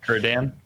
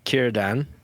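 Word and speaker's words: Círdan: Kierdan? Yeah, Kierdan, like my middle name, Kieran, but Kierdan.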